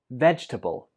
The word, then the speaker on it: vegetable: this lesson up here so this word has three syllables veg turbo vegetable some students pronounce this with four syllables but that's not correct it only has three one more time vegetable